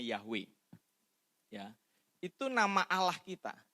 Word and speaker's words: Yahweh: Jadi disisipin A sama disisipin E. Jadi YHWH dibacanya Yahweh.